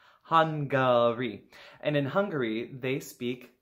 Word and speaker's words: Hungary: is in Central Europe it starts with an H sounds like the word we use for when our body needs food Hungary yeah okay alright not hungry not hungry han gauri and in Hungary they